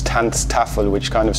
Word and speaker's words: Tanztafel: anything else, I liked the way it sounds, Tanztafel, which kind of sounds like a weird mix between German and Dutch.